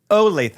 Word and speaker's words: Olathe: You say like Olathe. you make it like an A. It's an O. Olathe.